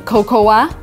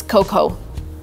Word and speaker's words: cocoa: I've heard a lot of Americans saying cocoa, when in reality it is cocoa. A in the end, we just don't read it.